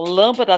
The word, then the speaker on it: lâmpada: começo quando você começa então lâmpada tem três sílabas ó lãmpada então lã seria acentuado como é um lã